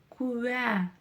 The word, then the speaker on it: куә: А когда мы произносим букву Я внутри слова, в согласных, между согласными точнее, да, то мы слышим именно звук куэ, куэ, куэ.